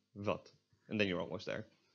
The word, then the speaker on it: wat: In Dutch, the W is pronounced a lot more similar to a V, and it's pronounced like v, v. This word would be pronounced as wat, wat. It is slightly different from a V in that it is less aspiration, and you kind of move your lip while you're saying it.